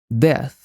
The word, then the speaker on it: death: Já a pronúncia desse TH é feita colocando a língua entre os dentes, só que em vez de fazer o som de Z, nós sopramos. Death, death.